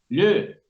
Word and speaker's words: le: Pero, ¿qué pasa con la E final? Le. Cerrada. Sumamente cerrada para nuestros oídos.